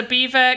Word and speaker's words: Belvoir: beaver or belvoir called beaver castle it's spelt belvoir said beaver beaver castle it's called beaver castle it is spelled like